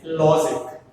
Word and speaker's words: logic: This logic has two syllables. That is logic. 2 syllables. So from the ending, second syllable is first syllable, right? So law. Stress falls on the law.